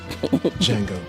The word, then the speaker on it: Django: Django. Can you spell it? D-J-N-G-O. The D is silent.